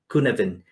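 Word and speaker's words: Cynefin: stumble across this framework it is called um kunovan it is in welsh so yeah the way you see it and the way you pronounce it's different but the idea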